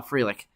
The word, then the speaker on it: Frelick: I used to pronounce it Frelick, but I guess he's in the major leagues, and I've heard his name enough now to know that it's pronounced Sal Frelick.